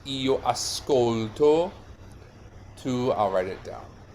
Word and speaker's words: ascolto: The stress is on here in the middle syllable, yeah? It's a piano word.